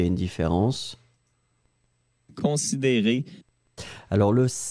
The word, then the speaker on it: considéré: Donc pour moi, la prononciation, c'est considéré. Le « e » du « d » ou le « e » du « ré », c'est le même.